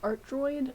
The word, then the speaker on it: A3Droid: A3Droid. Pronounced Art Droid. Art Droid was taken, and it was really sad.